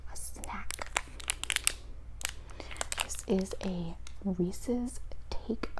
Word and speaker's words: Reese's: The name is Reese, so it's Reese's, and then it's supposed to rhyme with pieces.